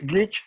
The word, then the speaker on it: glitch: No se pronuncia así en inglés, mi pronunciación es horrible, pero es glitch o falla.